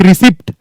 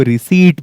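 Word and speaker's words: receipt: लेकिन हमने तो वही बोला अब तक, रिसिप्ट। आप आज से रिसिप्ट नहीं बोलेंगे, क्योंकि ये गलत प्रोनाउंसिएशन है, आपको रिसीट बोलना है। This is the correct pronunciation.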